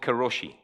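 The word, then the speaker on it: 過労死: It's called karoshi, and I am pronouncing that spot on.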